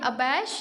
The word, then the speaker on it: abash: बच्चों, इसका जो प्रोनाउंसिएशन है ये अबैश या अबाश दोनों में से आप कोई भी कर सकते हैं।